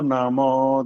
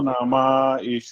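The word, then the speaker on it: नमः: गलतिया हो गई है नमा नहीं बोलना नम नम की आवाज नम म बस आ की मात्रा की थोड़ा लंबा कर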